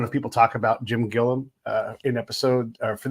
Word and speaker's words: Gilliam: together but also just to talk about Jim Gillum and so do you say Gillum or Gilliam how do you say it Gillian Gillian okay yeah so thanks for being on